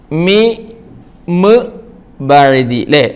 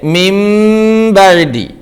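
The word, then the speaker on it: مِنْ بَعْدِ: നൂനിനു ശേഷം ശ്രദ്ധിച്ചു നോക്കണം സുക്കൂനുള്ള നൂനിന ശേഷം വന്ന അക്ഷരം ബാ എന്ന അക്ഷരംആയതുകൊണ്ട് എഴുത്തിൽ ഇപ്പോൾ കാണുന്നത് നൂൻ ആണെങ്കിലും ഉച്ചാരണത്തിൽ നൂനിനെ ഉച്ചരിക്കുകയില്ല പകരം മീം ആയിട്ടാണ് പറയുക നൂനിനെ മീമാക്കി പറയണം അതായത് മിൻ ബദി എന്ന് എഴുതിയത് വായിക്കേണ്ടത് നോക്കിയേ ഇങ്ങോട്ട് മിമ ബദി മിബദി ഇങ്ങനെയാ വായിക്കുക എഴുത്തിൽ എന്താ ഉള്ളത് മീമും നൂനും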